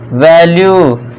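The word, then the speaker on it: value: देखिए fourth rule, जब किसी वर्ड के लास्ट में यू ई आए तो यू ई का उच्चारण दोस्तों क्या करना है, फिर से यू का करना है। देखिए ज़्यादातर दोस्तों यू ई का उच्चारण आपको यू ही करना है।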